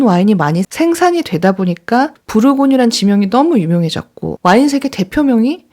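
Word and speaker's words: Bourgogne: 레드 다크톤 브르고뉴 컬러입니다 부르고뉴가 버건 디라 사실 아셨나요 브류 고유의 영어식 발음이 버건디 있니다 왠지 버건디 부르고뉴 완전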